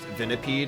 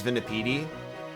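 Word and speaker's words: Venipede: Also, I just want you guys to know that all week it has lived rentree in my brain that someone pronounced vineipede as vineipedi.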